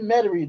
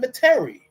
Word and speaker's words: Metairie: But now it'll be back in Metairie, as the unwashed, uncleaned out-of-towners like to call it, Metairie, because they can't pronounce it right.